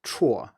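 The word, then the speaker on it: 辵: is usually called 走之旁, but the pronunciation of the character itself is 绰, and this then is not used by native speakers, and if you say this, few people will know what you mean.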